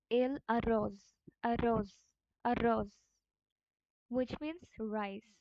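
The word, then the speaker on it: arroz: রোজ সো এটা একটা এখানে এই আর টা ডবল আর হচ্ছে রোলড আর হবে রোল্ড আর স্প্যানিশে হচ্ছে রোল আর আছে সো it will B এল a rose rose rose which means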